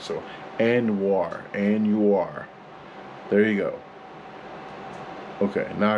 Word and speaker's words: Anuar: So, Anuar. There you go. Okay, now I gotta go. GoPro, stop recording. GoPro, stop recording. Anuar.